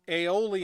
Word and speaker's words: Aeolian: a certain specific term it's it's aioli and I believe it's spelled AE l AE oli a n and an aioli in